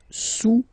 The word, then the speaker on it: sous: Le cube est sous le cylindre. Okay, le cube est sous le cylindre. Don't pronounce the final S, and then this OU combination of vowels is pronounced OU, okay?